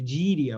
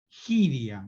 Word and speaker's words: gíria: Bueno, si uno fuese a recorrer algún diccionario de gíria brasileña, lo pronuncio así, gíria, pero se escribe, ¿por qué no me escribís? Parate que, ahí va. Giria, ¿no? Se pronuncia giria.